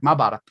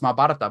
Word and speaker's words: Mahabharata: And for those who don't know, the oldest framed narrative in the world is the South Asian epic Mahabharata. Which many people might pronounce Mahabharata, but it's the first iteration of a framed narrative with nesting stories inside.